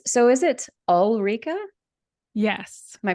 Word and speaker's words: Ulrika: So is it Ulrika? Yes, Am I pronouncing that correctly? you're perfectly fine. Ulrika. And where does Ulrika come from?